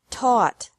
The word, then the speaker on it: taught: seek sought sought teach taught taught think thought thought remember that the g is silent in these verbs verbs with three different